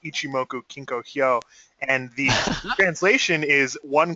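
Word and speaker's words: Ichimoku Kinkō: of the cloud uh it's actually in long form Japanese uh pronounced ichimoku kinkoo and the translation is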